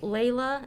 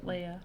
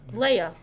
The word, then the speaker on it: Leia: He is, Layla and Han Solo. Leia. Leia.